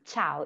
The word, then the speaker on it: ciao: This is ciao.